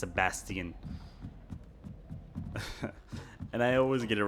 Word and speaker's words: Sebastian: Especially on this game because it like Sebastian is not Sebastian, it's Sabastian.